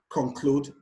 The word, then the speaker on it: conclude: Conclude, the stress is placed on the 2nd syllable.